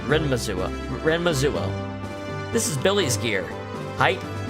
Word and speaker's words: Renmazuo: So this is the Renmazuo. That's how it's said. Renmazuo.